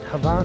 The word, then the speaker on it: Hvar: Do I say it right, Hvar?